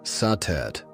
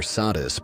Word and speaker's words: Satet: Before the great names of Isis or Hatheror filled the temples of Egypt, there was Satet pronounced Satet or Sadis by the Greeks.